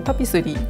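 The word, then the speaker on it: tapisserie: ように書きますフランス簿になりますとタピスリーという風に発音したりします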